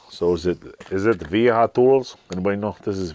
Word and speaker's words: Wiha: is it is it viha tools anybody know this is VHA VHA I know those ver they pronounce a w like a V German so anyway bought one